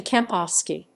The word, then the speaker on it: Kempowski: walter kampowski walter kampowski german pronunciation walter kampovsky listen 29 april 1929